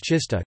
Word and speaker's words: czysta: Polish words czysta, clean, F, pronounced with an affricate, T, and terzista, 300, pronounced with a sequence, T, are an example of a minimal pair based on such a contrast.